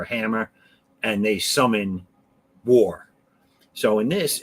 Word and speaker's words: War: Her name is War, and I don't care how you think that's pronounced. It's War.